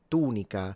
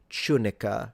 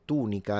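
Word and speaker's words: tunica: When it comes to the tunic the Romans in Latin pronounce it tunika rather than tunika in English. They say tunika and the u is long.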